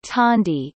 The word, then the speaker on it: candi: Temples are called candi, pronounced tandi, in Indonesia, whether it is Buddhist or Hindu.